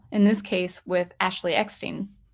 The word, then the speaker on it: Eckstein: In this case, with Ashley Eckstein. I keep saying Eckstein. She pronounces it Eckstein.